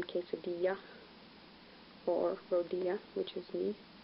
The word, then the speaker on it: quesadilla: sounds like any so when you encounter double LS it sounds like yeah like in quesadilla for Rodia which is